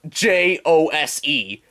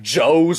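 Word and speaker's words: José: yeah um it's spelled j-o-s-e doesn't look like it's supposed to be pronounced like joe's or josie or something yeah sure does foe but it's not pronounced like that senor well it looks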